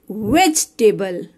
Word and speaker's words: vegetable: commonly used words let's check out the correct pronunciation of these words v e g e t a b l e it's vegetable vegetable t h u m b thumb its